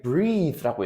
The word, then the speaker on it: breathe: 자, 그다음에 여기 breathe라고 읽어요. 자, 지금 breath에 e까지 붙어야 돼요. 맨 마지막 이까지 붙어서 이건 뜻이 숨을 쉬다라는 동사예요. breath 주의해 주셔야 될 건 뭐냐면요. e가 빠진 거 breath라고 읽죠. 발음이 breath 경우는요.